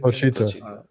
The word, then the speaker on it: Pochita: Pochita. Pochita. When Pochita died, he said he cried. And Pochita's the only thing he's ever had. Yeah. Pochita, because it's like he grew up with no one but Pochita.